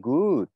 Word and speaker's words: good: Cách đúng là mình chuyển thành ư, hạ miệng xuống. Và mình vẫn kéo dài như vậy. Good. Good. Một cái là tròn môi, một cái là hạ cằm xuống.